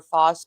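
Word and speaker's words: FOS Kulture: It's Foss, FOS Culture, KULTURE. Is that right?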